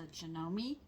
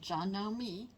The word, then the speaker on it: Janome: It's a Janome, and that's how it's pronounced, Janome Memory Craft.